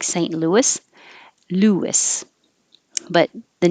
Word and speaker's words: Louis: And it could also be spelled like this, like St. Louis. Louis.